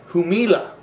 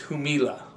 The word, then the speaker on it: Jumilla: From Jumilla or Jumilla. We used to pronounce the J in English.